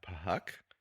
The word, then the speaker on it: Phuk: The super fat Puck. Trying to keep that everybody rating. It's spelled PHUK.